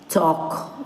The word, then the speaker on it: talk: Next, with L silent words, they are half, calf, halves, calves, talk, walk, chalk, folk, so on.